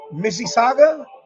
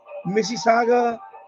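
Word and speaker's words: Mississauga: out of uh Canada Indian music at um Missi Saga that's how you pronounce it Missi Saga Ontario I think this you IND music that's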